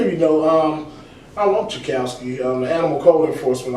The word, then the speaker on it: TchiaKousy: can't say my name man but it is chowski it is chowski it's easy I say something